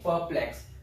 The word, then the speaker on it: perplex: Because ER के just बाद क्या है? कॉन्सोनेंट है. अगर कॉन्सोनेंट नहीं है, वावल साउंड है, वहां पर आप आर को प्रोनाउंस करेंगे. So there is a rule you have to remember that this ER when comes before the consonant, consonant से पहले आ जाता है तो इसका साउंड अ हो जाता है.